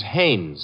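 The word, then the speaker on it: Haines: Hines used to fish out no no not Hines Haynes couldn't be Huntingburg no it couldn't be the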